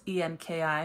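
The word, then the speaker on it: Enki: twis Eco Cerulean in with the wearing girls Anki ink I think that's how it's pronounced it could be Anki or however else but I pronounce it Anki uh it's en Ki but again it's a Sumerian god by the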